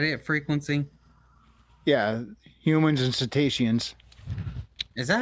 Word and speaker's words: cetaceans: Yeah, humans and cetaceans. Is that how you say it? Yep. I think Cetaceans. I've been saying like Cretians or whatever the fuck.